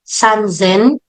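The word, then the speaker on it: さんぜん: sunan Zen everybody can you unmute and say sanzen sanzen sanzen sanen sanzen very good Now When pronouncing 8,000 It's Hen may konting diin sa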